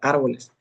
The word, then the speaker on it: árboles: La palabra árboles, árboles. La antepenúltima sílaba vendría siendo ar. Entonces, ahí es donde se le tiene que colocar el acento.